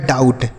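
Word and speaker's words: doubt: गया तो लिखा डाऊ बी साइलेंट होता है टी से ट लिखा है डाउट क्या हो गया डाउट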